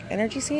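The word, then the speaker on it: Emergen-C: the ther flus and the inner energy C or energy energy C is how you say it and then they have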